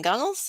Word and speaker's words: Gunnells: the authors in that collection uh gunnels I hope I pronounced your name right that is correct okay